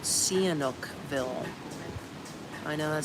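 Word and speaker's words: Sihanoukville: It's um on the coastline is called Canukville.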